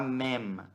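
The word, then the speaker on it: מם: Mem. Lembra de pronunciar o M fechado, Mem.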